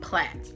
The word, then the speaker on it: plaits: box braids box braids plaits not braids going back plaits I said it right plaits now cornrows plants